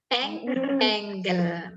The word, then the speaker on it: angle: Angle ya, bukan angel. Kalau angel itu malaikat. Bacanya angle. Maksudnya sudut.